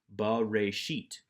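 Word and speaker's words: בראשית: Always pronounce the schwa if it is at the beginning of the word, or in my example here, the beginning of the Bible, since this is the first word of Genesis. Ba, pronouncing the schwa, ba-re-sheet, in the beginning.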